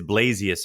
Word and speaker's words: Blasius: The way you pronounce it is actually proper. It's the proper Lithuanian pronunciation. Got it. According to them, according to Joe, it's Blasius.